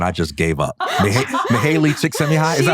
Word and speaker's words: Csikszentmihalyi: Mihaly Csikszentmihalyi, is that how you say it? Csikszentmihalyi.